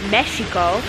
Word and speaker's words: Mexico: we just learned that Mexico was actually originally pronounced meso when the Aztecs were here but then when the Spaniards came they didn't like the sh sound because it was a sound that a snake would make and that was evil